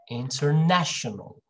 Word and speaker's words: international: this syllable right here and then this one international remember a little louder and higher pitched international international all right and